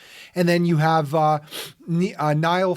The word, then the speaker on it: Niall: then you have uh niall ferguson i think he pronounces it neil historian hoover institution at